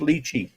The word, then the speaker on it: lychee: fruit called lychee they're spelt l-y but pronounced lychee that's wild it's like